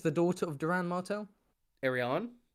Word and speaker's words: Arianne: Arion. Arianne. Arion Arion. That's an interesting pronunciation.